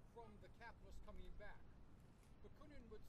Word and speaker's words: Bakunin: Am I pronouncing it right? Bakunin?